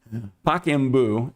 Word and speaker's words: Pacaembu: I asked my Brazilian wife, and she said that she would pronounce it give me a second. Pacaembu, Estadio.